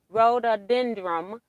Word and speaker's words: rhododendron: up and usually end up in her book rhododendron is how it's pronounced t thank you diane 57 oh that's